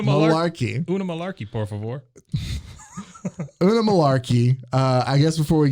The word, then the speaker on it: Oonagh: to butcher this because it's spelled Oonagh. So Unagi. No, there's no I. Oogie. Just Una.